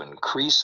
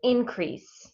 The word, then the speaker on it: increase: So in the first one, increase, Yeah. increase. So the first part is stressed.